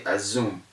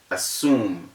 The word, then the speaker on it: assume: it is still wrong so you have to assume that the lecturer saying a zoom has not kept the rule so the word is assume not a zoom it is assumed because